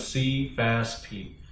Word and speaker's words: Sefaspe: The pronunciation is Sefaspe.